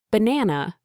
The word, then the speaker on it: banana: Take banana, for example. The stress falls on the second syllable, banana.